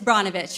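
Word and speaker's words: Brnovich: nunchuck i mean wait his name's so hard to pronounce it's bronovich right okay nunchuck he has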